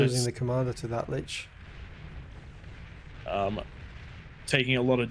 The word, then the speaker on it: Lich: How do you pronounce that? L-I-C-H.